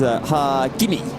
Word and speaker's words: Hakimi: You have to elongate the first syllable and then do everything else really quick. So it's Hakimi, or yeah. I think it's. I'm exaggerating. It's sort of like Raikkonen, that kind of pronunciation.